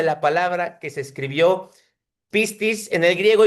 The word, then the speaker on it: pistis: Se pronuncia pistis.